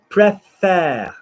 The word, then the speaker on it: préfère: Say for me, fair, like a county fair. Say fair. Fair. Lovely. Fair. Now say préfère. Prefer. There we go, not frère. There's no brother involved.